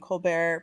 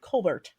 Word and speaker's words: Colbert: is a known thing Stephen colar pronounces his name the way that I just said it but some of his s siblings pronounce it Colbert so perhaps it ises a matter of personal preference uh the media media